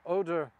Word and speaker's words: Oder: And in this country, in this particular place, it can be very difficult to know, because Oder is the German pronunciation and Odra is the Polish pronunciation.